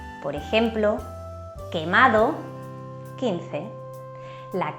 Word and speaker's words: quemado: La Q suena como una K fuerte y siempre va seguida de la letra U. Solo se usa con las vocales E e I y la U es muda, es decir, no se pronuncia.